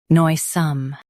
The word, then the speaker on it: noisome: noi some noisome Stress noi and keep some light.